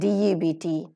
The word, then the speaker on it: debt: And debt, debt. B sound is silent here.